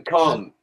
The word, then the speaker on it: calm: letricas y muchas veces, como en calm, que no se pronuncia la L.